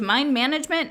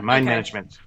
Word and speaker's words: Mind MGMT: your journal talking about mind MGMT it's a mine management or is it and it's pronounced banishment yeah mine management yeah every time I will just eat that